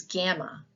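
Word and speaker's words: γάμμα: ball the next is gamma gamma was pronounced G as in gift and later we'll learn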